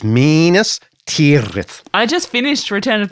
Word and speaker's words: Minas Tirith: It's Minas Tirith.